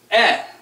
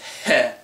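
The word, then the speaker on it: へ: the hirana for he however it's pronounced e just E when it's a particle it's E when it's in a word it's he this means to towards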